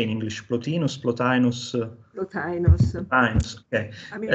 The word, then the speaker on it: Plotinus: Plotinus, Plotinus?